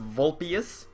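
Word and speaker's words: vulpes: that's pretty cool nom it's pronounced vulpius vulpius i know the general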